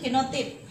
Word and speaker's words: genotipe: Terus ada istilah lain yaitu genotip. Nah, genotipe, bacanya genotip.